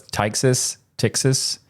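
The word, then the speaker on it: Ptyxis: Maybe that's a silent P, so it's Tyxis.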